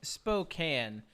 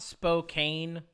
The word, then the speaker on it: Spokane: is it not Spokane so I was saying Spokane and then a couple locals were like you know you're saying that wrong it's Spokan it's spelled s p o k a n e n e mhm Spokane you would think